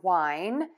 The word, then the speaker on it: wine: Two for Tuesday are two words that are pronounced the same, but they have different definitions and different spellings. These words are called homophones. Our words today are wine, the drink made from